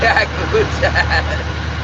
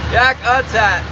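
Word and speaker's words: Yakutat: Yakut. Yakat. You guys can pronounce it however you want. I'm mildly offended when people call it Yakat though. Tell you the truth, it's not Yakat, that's for sure.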